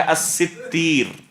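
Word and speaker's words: السِّتِّير: مشہور جو نطق ہے، علماء اس لفظ کو جو پڑھتے ہیں وہ ہے الستیر، الستیر، یہ ہے صحیح نطق۔ یا بعض علماء نے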